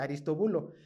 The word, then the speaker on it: Aristóbulo: En el texto mujer de Herodes Antipas, era hija de Aristóbulo. Ah, bueno, así se pronuncia, Aristobulo, hijo de Herodes el Grande y de Marián.